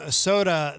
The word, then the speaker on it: SOTAH: Brand new from Soda. The band is it's spelled SOTAH, and that is called Sunrise.